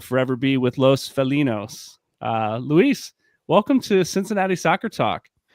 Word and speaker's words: Luis: Is it Luis? Luis, yeah, Spanish pronunciation.